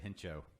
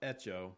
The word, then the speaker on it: hecho: You said Hencho, Yeah. and It it's Hecho? correctly pronounced Echo. Echo? In Spanish, I mean made. in Spanish, just a quick Spanish lesson for you. Yeah. The H is silent.